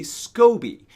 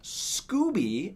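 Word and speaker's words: SCOBY: it and then you add what's called a Scobie that's s c o BY Scobie not scooby as I've heard some people pronounce it we're not talking about scooby dooby-doo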